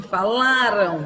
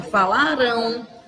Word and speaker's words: falaram: Vai deixar de ser uma paroxítona, falaram, a sílaba forte, a penúltima sílaba, e vai passar a ser uma oxítona, falarão.